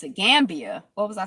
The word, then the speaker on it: Gambia: Gambia. What was I saying? Gam. Like Pambia. Gambia.